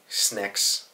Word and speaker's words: Snecx: I assume the way to say Snecx is Snecx, because it's spelt S-N-E-C-X, so I guess it could be Snecx, but I think it's Snecx. That's the only way I've heard it said.